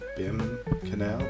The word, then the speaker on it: Behm Canal: The boat took us out through the, I think it's pronounced the Behm Canal, B-E-H-M, from the port, and we headed out to the National Monument.